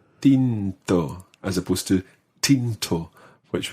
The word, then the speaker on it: tinto: wine you say bino tinto pino tinto literally tinted wine and try to make um that the t sound is one of those soft t's we're going to talk